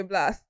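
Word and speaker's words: Blxst: I don't know how it's pronounced. It's Blast. Okay, Blast.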